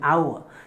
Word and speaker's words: hour: completely silent it is our that's why an hour that's like because of the pronunciations of the world sometimes the world might